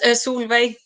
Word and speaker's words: Solveig: Yes, Solveig. Yeah. Okay. And she's not. I mean, I have no idea how they pronounce it in Norwegian. That's the thing. But that's how you pronounce it in Swedish, anyway.